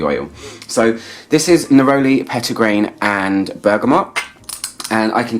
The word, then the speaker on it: petitgrain: It's the petitgrain I smell the most, or petit grain if you want to nitpick and make me pronounce it properly.